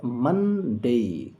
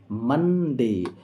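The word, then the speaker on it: Monday: ধ্বনি তো এই সমস্ত ধ্বনিগুলোকে একসঙ্গে জুড়ে এর উচ্চারণ মানডে মানডে আমরা অনেকে মনডে পড়ি কিন্তু মনডে নয় এর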